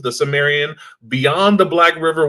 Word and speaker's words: Cimmerian: we have and I asked how to pronounce his name, and then I just completely Cimmerian, Cimarron, Sumerian? I'm Cimmerian.